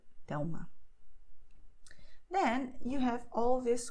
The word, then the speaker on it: Thelma: letter is a consonant, and then the sound will be U, Miguel, Thelma.